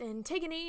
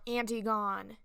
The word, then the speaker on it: Antigone: A summary of Antigone, pronounced Antigone, not Antigone.